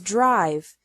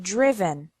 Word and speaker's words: driven: risen write wrote written notice that the sound of the I changes from the present to the past participle the present is drive and the past participle is not driv but driven subgroup three verbs ending